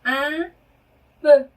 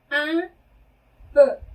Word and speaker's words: un peu: un peu, un peu 이렇게 발음해요. 네, un은 하나의라는 뜻의 부정관사죠. 그런데 발음은 이렇게 발음하셔야 돼요. 발음하시다가 코로 올려서 하는 발음이죠. 네. 그리고 아까 말러그 할 때 그 발음입니다. 입술을 한 상태에서 에 소리를 내는 거죠. 그래서 이렇게 발음하셔야 되고요.